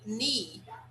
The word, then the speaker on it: knee: For example, here in the first one, we say knee. We don't pronounce that.